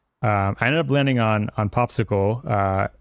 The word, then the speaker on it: PopSQL: So I think this is actually pronounced popsicle.